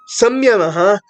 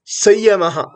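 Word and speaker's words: संयमः: Some people pronounce as Samyamaha, but it is correct to pronounce as Sayamaha.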